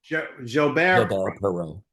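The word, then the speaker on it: Perreault: Billy, help me with this pronunciation. Gilbert Perau Perau.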